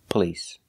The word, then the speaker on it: police: word is police police we don't use the a sound like stop and hot we use the uh the short sound uh like cup and up p p police the stress is on the second syllable police it's not on the first syllable we do not say police it's police police because the stress is on the second syllable the first syllable is pronounced relax p p police police